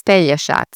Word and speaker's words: Pelješac: it in Croatian, well, how you'd say it in Croatian is Pelješac. So they have the tricky J, they have the sh, and the C that's a ts, not a k or anything like that.